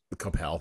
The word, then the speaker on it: Coppell: I'm from this area they would they would have they would have you um pronounce it Capel Coppell that's right they would